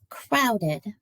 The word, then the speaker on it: crowded: Crowded. Crowded. Crowded has an ed sound at the end. It is also adds an extra syllable to the word crowd.